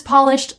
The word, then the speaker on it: Polish: Now, this meaning can also be pronounced patronized. Patronize, patronize. Polish, to shine something. I need to get these shoes polished.